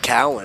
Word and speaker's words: Cowan: Now Brett Cowan up to bat the pitcher. So excuse me for pronouncing that last name as Cohen is Cowan. It's Brett Cowan digs in